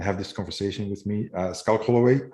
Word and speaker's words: Schalk: So how do you pronounce, especially your first name? Schalk. Schalk. Okay, because I would think Schalk or Schalk is how we would read it in Dutch. I think that's actually the accurate one.